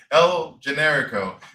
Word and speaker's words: El Generico: Generico, El Generico.